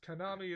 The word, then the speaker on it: Konami: by something that that rhymes with o army yes Konami is Konami and Konami